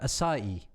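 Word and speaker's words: açaí: aca berry so i found out later it's pronounced uh acai i imagine that you're all over that heather it's a very american thing isn't it oh acai berry i've been calling it ak berry he's been like i've been doing that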